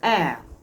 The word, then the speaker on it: heir: Now, this sentence is not correct because the H in the air is silent. So because it is silent, the the sound there, air, is now what is remaining.